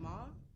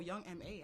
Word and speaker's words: Young M.A: Today we're going to be talking about Young Ma. She's Young from M.A. Brooklyn, New York. Oh, Young M.A. I apologize. I keep calling her Ma for some reason.